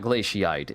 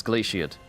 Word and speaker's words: glaciate: It's not glaciite. It's glaciate or Oh, it's glaciate. I've been saying that wrong the whole time. It's glaciate. It's literally says eight on the end.